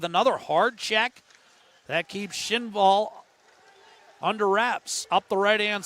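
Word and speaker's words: Kinnvall: And then it's flubbed by Schinval. Again, that K in Sweden, just like Oliver Shillington. Schinval, I apologize for a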